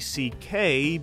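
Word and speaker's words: Szekely: than his real name he goes by Louis CK because his name is Louis CK which is pronounced c k so he just changed his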